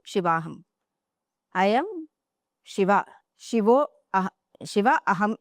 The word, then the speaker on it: Shivaham: And then finally, you say Shivoham, Shivaham. I am Shiva. Shiva Aham is Shivoham. And then Shiva Aham is Shivaham. So when it is a long sound at the end, it refers to Shakti.